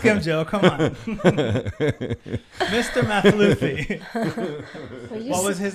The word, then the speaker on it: Mathlouthi: Mathlouthi. Mathlouthi.